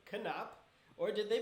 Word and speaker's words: Knapp: When people ask what's my name, I'm like, it's Knapp. So if you say "Can't Stop Knapp," that should, it's like, just remember "Can't Stop Knapp."